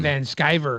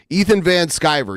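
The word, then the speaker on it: Van Sciver: Ethan van shrier um van skyver skyver skyver that's how you say it Ethan van skyver yeah he uh he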